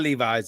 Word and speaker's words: Levis: and that rookie is Levis, Levis, Will Levis, Levi yeah, Levis, right? yeah, I'm hoping I'm saying his name no, right. yeah, yeah. It's Uh, Levis, it's not Levi's, it's it- Levis. it's Levis.